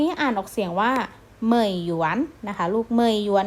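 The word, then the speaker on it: 美元: เป็น หยวน คำ นี้ อ่าน ออก เสียง ว่า เหมยหยวน นะ คะ ลูก ไม่ อยู่ เนี่ย ก็ จะ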